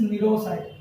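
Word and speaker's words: cnidocyte: ठीक है, लिखा देता हूं मैं इस नीरोसाइट, यहाँ पर भी सी साइलेंट है।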